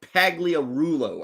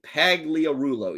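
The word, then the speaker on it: Pagliarulo: now we have Mike what is this pagliarolo Mike Paglia Rulo I think was the pronunciation of that right Mike Paglia Rulo yeah that's it man look at him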